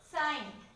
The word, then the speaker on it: sign: Sign.